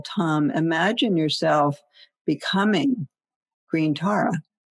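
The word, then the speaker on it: tam: all of the taras which is tom spelled t-a-m and as we sound this seed syllable tom imagine yourself becoming green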